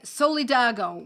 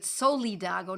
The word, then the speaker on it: Solidago: and the eyes and solidago which is I pronounce it soledago not solidago solidago s-o-l-i-d-a-g-o and that